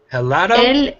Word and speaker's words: helado: yeah like that el helado nod oh yeah the H is silent LLL and then I'll